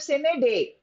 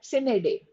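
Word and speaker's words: sine die: Then we have sin day. Sen. It has to be pronounced as sined day. Now some people may pronounce it in a different manner but doesn't matter but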